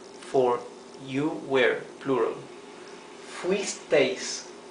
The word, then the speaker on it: fuisteis: Vosotros fuisteis, for you were, plural. Fuisteis, fuisteis, 2 syllables.